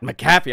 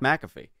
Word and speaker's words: McAfee: people's names Pat mfy tell Pat mcaffe I'm like that John that's it's Pat McAfee I don't know his